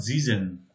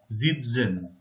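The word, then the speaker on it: sitzen: Zitzen. Zitzen. Zen. Zen. Not Zizen, Zitzen.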